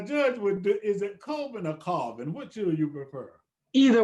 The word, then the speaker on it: Colvin: Now, Judge, is it Colvin or Colvin? Which do you prefer? Either way, but it's pronounced by the family as Colvin.